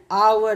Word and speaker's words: hour: देखिए कॉन्सोनेंट है बट वी यूज an because एच जो है एच का साउंड जो है वो साइलेंट हो गया. सो वी यूज an hour ago.